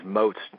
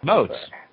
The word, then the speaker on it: Motz: Yeah, you know, my pronunciation of my name is Motz, just so you know. Motz.